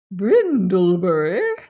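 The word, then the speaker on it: Bryndlebury: n d l e b u or Y brindleberry pronounce remember the old Sussex name with which m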